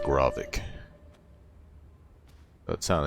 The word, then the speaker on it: Grovik: I need to remember that's pronounced Grovik.